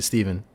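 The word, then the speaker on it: Stephan: It's spelled with a PH and an A. So you'd think it was Stefan, but it's actually Steven, named after my godfather.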